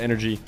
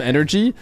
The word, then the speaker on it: NRG: set for anybody else numo they used to call them energy I think that's how you're supposed to say it right everybody says the letters but aren't don't they doesn't the team say that technically their name is energy like just the letters